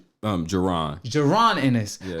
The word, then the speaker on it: Jaron: Jaron.